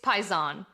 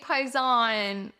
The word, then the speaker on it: paesano: It's paesano. And in English, or our Italian American culture, we'll say hey, paisan, what's up? Like a hey, buddy, what's up? But in Italy, paisan comes from paesano.